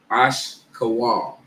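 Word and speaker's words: אשכול: The Hebrew pronunciation will be Ashkawal.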